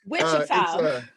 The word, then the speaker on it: Wichita: He's originally, now let me make sure I say this right, from Wichita. Look, you still didn't say it right. You didn't finish saying it. No. Wichita. Thank you. It's Wichita Falls, Texas.